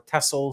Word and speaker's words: Tessell: Yeah, it's pronounced Tessell.